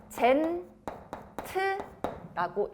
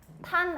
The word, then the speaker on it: tan: 탄젠트라고 읽어. 얘는 탄젠트를 쓰기는 이렇게 쓰는데요. 역시나 앞에 3글자를 따서 TAN만 따는 거야. TAN. 탄 아니고 탄젠트의 줄임말이라서 읽을 때 탄젠트, 중심각 이렇게 읽어주면 돼.